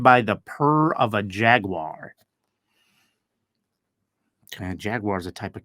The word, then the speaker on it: Jaguar: It's the car, which is also pronounced in Europe as jaguar. So some people, you'll hear it pronounced that way, jaguar. In America, we pronounce it a jaguar.